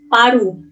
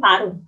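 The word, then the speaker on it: パル: Ada Palu, ditulisnya dengan Paru. Dibacanya pun Paru. Karena lu nggak bisa bacanya orang Jepang. Jadi, lu itu berubah jadi ru. Oke, next ya.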